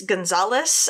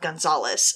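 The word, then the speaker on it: Gonzaullas: that Lone Wolf Gonzalez I'm going to assume it's Gonzalez um it's spelled g o n z a u l l a s and all the pronunciations said that it was like a variation of of Gonzalez so I guess that's how I'll pronounce it but Gonzalez and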